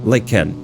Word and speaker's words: lichen: In American accent, it's like lichen. So, lichen. Emphasis on the li part. Appreciate you. Thank you. It will be pronounced as a K.